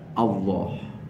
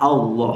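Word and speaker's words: الله: nyebutnya Allah Allah ya sebenarnya bukan O ya huruf depannya itu bukan O bukan tapi Alif Alif huruf depannya Alif Alif sama fathah bunyinya apa a Alif sama fathah bunyinya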